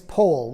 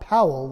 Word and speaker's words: Powell: and by the way the correct pronunciation of his name is pole like in whole not powell like an owl baden pole was born